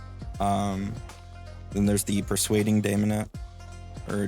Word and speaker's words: Daemonette: whatever they're called um then there's the persuading demonet or demonet I say Damon just to keep it uh